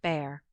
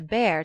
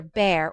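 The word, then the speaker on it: Bhaer: at his horrid name it isn't pronounced either bear or a beer as people will say it but something between the two as only germans can give it i'm glad you both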